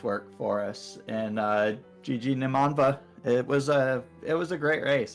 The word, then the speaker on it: Nimanva: And GG Nimanva. It was a great race. I look forward to watching it back. It's Nimanva. It's fine. I've been mispronouncing everybody's name today, so.